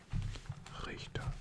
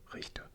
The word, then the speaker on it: Richter: After that we have Richter, or as Americans would pronounce Richter.